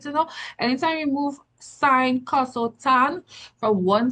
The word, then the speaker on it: sine: it looks like it's spelled sin because it's in short form, but the real word is actually sine.